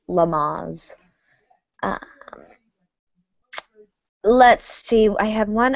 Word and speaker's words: Lamaze: you learn about childbirth I guess it is named after someone so it is pronounced Lamaze let's see I have